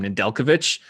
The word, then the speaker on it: Nedeljkovic: Nedeljkovic.